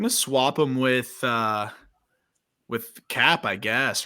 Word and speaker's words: Cappe: Pablo Lopez, Jesus Aguilar, Yiddi Cappe, who he likes to call Cap for some reason. Pronounce the E at the end. Cappe.